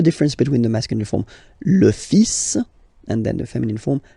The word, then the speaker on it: fils: Okay, so it's le, and then even if you've got this L, well, basically you don't pronounce it, and then strangely you pronounce the final S, le fils, le fils, le fils, le fils.